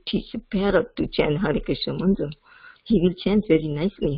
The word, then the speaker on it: Krishna: but then so then we should pronounce Krishna completely all the syllables so then that Krishna